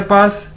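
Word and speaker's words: 八: Okay, उसके बाद है जी हमारे पास नेक्स्ट वर्ड, नेक्स्ट अदद, पा, बी ए पा। चाइनीज में बी को कैसे प्रोनाउंस करते हैं? पी के तौर पर, पे के तौर पर।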